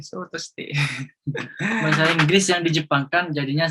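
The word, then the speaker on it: ショートステイ: Short time ini atau dalam bahasa Jepangnya itu sotoste ini bacanya ya, sotoste.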